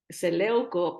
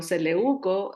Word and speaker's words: Seleuco: Y estas palabras, estos nombres que son griegos, a veces le quiero dar el acento en otra parte, como Seleuco, pero Seleuco, así que el Señor